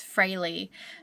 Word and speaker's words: Freyli: Just going back through and editing my footage, realized that I have actually said the business name wrong, even though I confirmed it. It's Freyli.